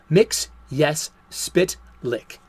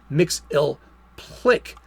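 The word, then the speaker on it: Mxyzptlk: 1990s animated series that his name is pronounced as saying the words mix yes spit lick even transforming himself into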